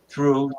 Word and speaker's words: through: it through I threw through t t h e w throwing T HR o w i n g and walk through the doorway T HR o u g h so g h is silent um what and what